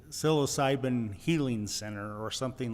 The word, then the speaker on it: psilocybin: they say um and and again I'm my pronunciation of the psilocyum. Dennis is the expert. Psilocybin.